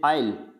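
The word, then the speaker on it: aisle: जगह होता है जैसे आइल, यानी यहाँ पे एस आ रहा है तो इसको नहीं पढ़ा जाता, इसको पढ़ा जाता है आइल।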